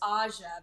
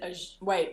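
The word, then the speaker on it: Ajah: is wrong like but I've told him that it's Aja because I and he pronounces it a wait instead of red Aja okay and my I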